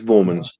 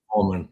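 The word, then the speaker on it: Voormann: Vorman. Vorman. Claus. Vorman. I'll try and pronounce that proper.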